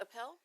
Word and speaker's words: Appel: statement is Appel you pronounce it Appel yes but you can